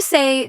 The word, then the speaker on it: c'est: How do you say turn left?